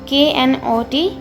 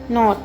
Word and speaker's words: know: इसमें आपको K की साउंड को साइलेंट रखना है और N की साउंड को बोलना है like KNOT not, KNIFE knife, KNOW no, KNIT knit। इसमें आपको knot, knife, kno, knit ऐसे नहीं बोलना, K साइलेंट होगा इसमें, इसलिए आपको ये थोड़ा लाउडली बोलना है।